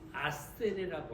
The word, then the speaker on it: 아셀: 히브리어의 원래 발음은 아세레라고 합니다. 그러니까 아셀이 아세레라는 그런 발음이죠.